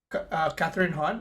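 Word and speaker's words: Kathryn Hahn: But yeah, big fan of Catherine Hahn. Is it right? Did I say it right? Catherine Hahn. Yeah, Catherine Hahn.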